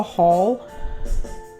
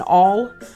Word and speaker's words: awl: Now I don't have a haul, or an awl, excuse me, I kind of said it wrong. I said it with an H. An awl.